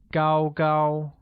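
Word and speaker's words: 高: jianjun height translates as good while tall becomes gau gao finally beautiful is liang all right it's time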